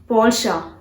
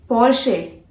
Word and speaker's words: Porsche: Porsche. Porsche. Confused? No guys, you are wrong. Porsche is a wrong pronunciation of this word, this brand. You have to pronounce this as Porsche.